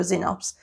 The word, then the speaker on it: Xenops: And I spent such a long time trying to find a joke that even related to a Xenops.